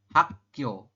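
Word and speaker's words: 학: Hak dibacanya adalah hak seperti itu.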